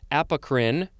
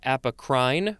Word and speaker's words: apocrine: c-a-p-o-n next we have apocrine could also be apocrine or apocrine it is spelled a-p-o-c-r-i-n-e